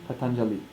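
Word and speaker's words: Patañjali: vowels in this name how do we stress it ideally you don't its Patanjali but what we can do is put tons of there's a little bit of a stress as long as we don't really open it up to a knob so potentially tens of Patanjali or Patanjali would really open it and lengthen it to confuse us then we would think it's written like that would so um so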